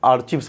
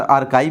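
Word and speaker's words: archives: तो जहाँ पे सरकारी दस्तावेज रखे जाते हैं उसको हम आर्चिव्स बोलते हैं, ठीक है। हालांकि इसको कई बार आर्काइव भी दिया होगा आपके उच्चारण प्रोनाउंसिएशन में, बट इसको आर्चिव्स पढ़िएगा, सी नंबर।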